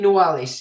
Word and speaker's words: Noailles: Prince Hila de Noailles is the head of this family and has worked in the French government as an advisor.